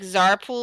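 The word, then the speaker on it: Tser Pool: pronounce it it's like i think it's supposed to be like zarpool or something like that it's t-s-e-r sir maybe maybe i i am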